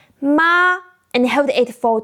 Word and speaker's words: mā: Start high, stay flat, just like the doctor's ah we talked about. Now, let's practice together. Follow me closely. Practice 1 for the first tone. First, I will say ma and hold it for 2 seconds.